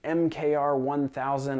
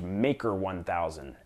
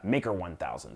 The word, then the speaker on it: MKR1000: talked about what I referred to as the mkr 1000 I did not realize the uh mimo from Arduino released a video this week uh it's pronounced maker 1000 mkr maker I mean I don't know I